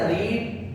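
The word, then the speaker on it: read: इस्तेमाल होगी तो बेटा रीड की थर्ड फॉर्म रेड होती है बेटा स्पेलिंग से लिखे जाते हैं लेकिन प्रनंसीएशन में डिफरेंस ए जाता है तो ये में पी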